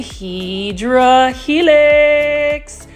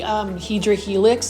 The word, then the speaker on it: Hedera helix: And then you can see right here, this is a Hedera helix, or what you would call a Hedera helix English ivy.